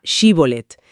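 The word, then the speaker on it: שיבולת: Sí, les hacían pronunciar la palabra shibolet, que puede significar espiga o corriente de agua. Pero por una diferencia dialectal, parece ser que los efraimitas no podían articular bien el sonido she inicial y decían sibolet.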